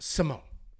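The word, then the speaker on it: Simón: then we have Ricky Simone I'm going to get this name right it's not Simon it looks like Simon we don't have a Tilda there's no there's no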